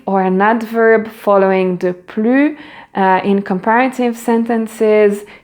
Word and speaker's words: plus: an adverb following the plus in comparative sentences, you do not pronounce the final S, but yet when you have a vowel sound, you pronounce it like a Z.